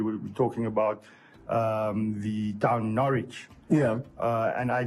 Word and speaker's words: Norwich: me who we were talking about the town Norwich yeah and I pronounce it Norwich yeah and it's obviously having a sign on